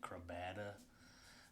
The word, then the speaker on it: Crabada: Decided to jump in to, or at least how I pronounce it, Crabada. I've heard people say Crabada, but I say Crabada.